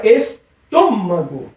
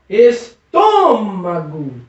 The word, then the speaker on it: estômago: na mesma situação tem Maria falava eztomago ó estômago percebeu que existe uma palavra forte aí você sílaba forte com essa sílaba Exatamente é o tutor do estômago e essa é uma sílaba tônica e ela precisa ser acentuada por quê Porque ela é uma palavra proparoxítona e todas as palavras proparoxítonas precisa o acentuado e eu espero meu